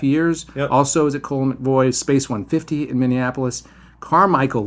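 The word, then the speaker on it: Colle McVoy: She's been at Fallon, Cole, and is it pronounced Colin McVoy or Coley and McVoy? Cole McVoy.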